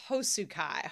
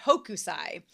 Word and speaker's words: Hokusai: And they chose this movie that I've been getting its name wrong all week, but it is Saru Subi, Miss Hosukai, Hokusai.